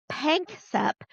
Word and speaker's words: Panksepp: brain science, and there's this scientist, I say his name wrong every time. I've got it right here in front of me. Jack, Jaak, Panksepp, Panksepp.